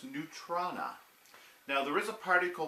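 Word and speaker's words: neutrona: or neutron ax wand and yes it is pronounced new trona now there is a particle called neutrinos neutrinos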